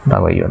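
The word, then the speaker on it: تغيّر: Taghayyur. Jadi kalau taghyir itu masdar ghayyar yughayyiru. Fa'ala fa'ilu. Kalau di sini cuma satu ya-nya, berarti bacanya taghayyur.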